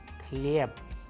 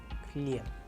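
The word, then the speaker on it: хлеб: An English approximation so that we understand it clearly is the word Khan, where we have used the letter K, or we have a sample Russian word with us where we have used the letter K in the word Khlyeb, Khlyeb, which means bread.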